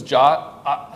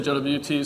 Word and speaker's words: JWT: in the standard that the suggested prononciation of this is jot some people do this some people don't I find myself wavering back and forth sometimes I'll say JWT sometimes I'll say jot I don't really know